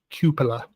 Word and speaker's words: cupola: Bill's pointing out that it's pronounced the cupola, which is great because I've pronounced it wrong for years.